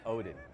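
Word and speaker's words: Odden: It's O-D-D-E-N. The second D is silent. It's Odin.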